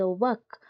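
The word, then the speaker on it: walk: डब्ल्यू तो सुना जाउची वर्क, सुना जाउची कि नहीं वर्क, किंतु एल वर्ड टा सेठी प्रोनाउंस करा जाऊ नाही। डब्ल्यू ए एक सुना एक के सुना जाउची वर्क, डब्ल्यू ए के वर्क, किंतु एल टा सेठी साइलेंट रही जाउची।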